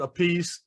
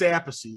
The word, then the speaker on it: Appice: One pronounces it a piece and one pronounces it apathy. Right. And I dug into it and found out why it's apathy is the correct pronunciation.